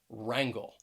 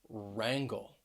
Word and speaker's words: wrangle: just start with the letter w and often w may be a silent letter at the beginning of a word especially when it's followed by the letter r that w r combination for example we have